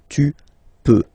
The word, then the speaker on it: peux: Then tu peux, same pronunciation and same spelling or writing, okay, P-E-U-X, okay, you don't pronounce the final X, tu peux, okay, je peux, tu peux.